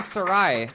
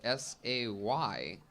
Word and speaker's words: Sarai: Sarai. Sorry. Son of a bitch. Sarai. Her handle is I am Sarai.